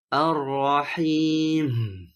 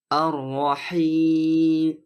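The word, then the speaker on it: الرحيم: Kebalikan dari ini juga merupakan kesalahan umum, yaitu tidak cukup membunyikan gunnah saat mengucapkan mim di akhir kata, sehingga membuat mim tidak terdengar dan terdengar hampir mendekati bunyi ba. Ar-Rahim. Sedangkan pengucapan mim yang tepat adalah di antara keduanya. Ar-Rahim. Jadi, jangan melebih-lebihkan atau memotong suaranya.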